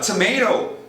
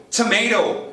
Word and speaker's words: tomato: de outro do Atlântico os americanos vão mandar tomato tomato transformando o t inra os britânicos vão manter o t mudar o som de vogal para alongo